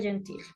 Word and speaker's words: gentil: Ceux-là aussi sont très gentils. Gentil. Atención a la pronunciación.